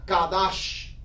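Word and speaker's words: קדש: da donde dice fense proviene de una palabraa que se pronuncia kadash kadash y cados es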